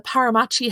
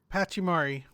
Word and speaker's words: Pachimari: The Paramachi hat. Paramachi? I'm saying it wrong. Pachimari.